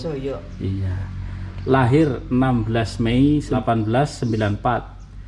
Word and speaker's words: Jojo: Jojo itu kalau di sini tulisannya Jojo, tapi bacanya Joyo. Joyo.